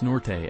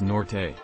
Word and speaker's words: Norte: state where most would pronounce norte as norte it's nort my whole life i grew